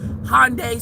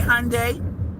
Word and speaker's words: Hyundai: It's how it's said here. Hyundai. Sunday. Sunday. Hyundai. which is why we say it that way. We're gonna say it the English way, not the Korean way, because you're selling cars to us.